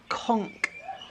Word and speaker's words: conch: It's spelt conch. Apparently it's conch, a conch shell or something like that.